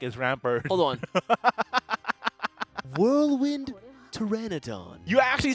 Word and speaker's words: Pteranodon: what the heck is ramper hold on Whirlwind Pteranodon you actually said it right for the first